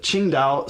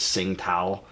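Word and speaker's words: Tsingtao: called yaning and that one's good too but ching out sometimes you'll hear Americans pronounce it as sing tow but that one is a common one that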